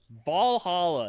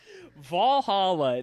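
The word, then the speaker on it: VA-11 Hall-A: game that's really easy to play on switch Valhalla it's a really cool game has a banging soundtrack I thought you're gonna say Persona 5 Royal Oak Valhalla that's not how it's spelled it is spelled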